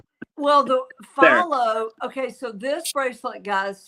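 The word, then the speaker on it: Fahlo: Follow. F A H L O. Follow.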